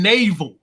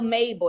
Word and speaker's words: Mabel: you say her name like you saying Naval like she's a naval ship yeah she is a ship everybody oh my Lord je Jezebel Mabel that's her name man